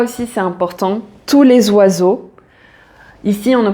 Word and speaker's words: oiseaux: E a u donc ces trois lettres font le son o et donc tu as